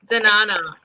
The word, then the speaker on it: zenana: Zenana, is that how it's pronounced? Yeah. Zenana. Okay. Zenana.